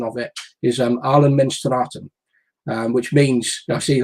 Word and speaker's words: Allemansrätten: In Sweden, it's called, and my pronunciation of it is Allemansrätten, which means, I see you laughing, Mick.